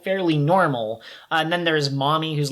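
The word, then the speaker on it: Mami: name is uh m-a-m-i mommy but it it's pronounced like mommy like you would call a maternal figure and of the different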